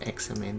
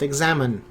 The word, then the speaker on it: axemen: Is it examen? I think it's examen, this word. Not to be pronounced examine.